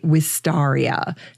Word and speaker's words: Wisteria: Some people say Wistaria to reflect the proper spelling of Wistar's last name. Either is fine, because guess what?